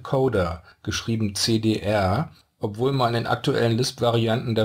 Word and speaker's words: cdr: For historical reasons, the left component is called "car" and the right one is called "cdr" (pronounced "coder").